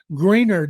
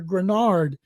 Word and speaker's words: Greenard: Stroud, but other players, Nico Collins, Will Anderson Jr., Derek Stingley Jr., and I hope Jonathan Greenard, as I keep hearing him pronounced, people hear Grenard, that he's able to